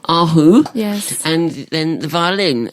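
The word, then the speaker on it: erhu: instruments one that you've also mentioned how' you pronounce it again aru aru yes and then the violin and this is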